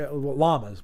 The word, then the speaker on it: llama: Dev L's too we llamas we just don't pronounce it Yama we pronounce it llama other than the Tilda